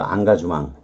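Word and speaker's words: engagement: 본래는 계약, 구속, 약혼, 연루됨을 의미하는데 사르트르가 그 논문에서 안가주망, 인게이지먼트를 불어로는 안가주망이라고 발음하는 거예요. 역시 아시다시피 맨 끝에 T는 발음을 하지 않는 거고 MEN도 망 이렇게 발음하는 거예요.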